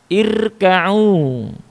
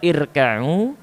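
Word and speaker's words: ارْكَعُوا: Hamzah di depan ro itu dinamakan dengan hamzah wasal. Ketika dia disambung dengan kata sebelumnya wa, dia tidak dibaca.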